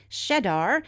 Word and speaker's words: Schedar: Here are those stars: Shedar, that's spelled Schedar, Caphs, that's spelled Caph, Gamma Cassiopeiae, Rukba, and Segin.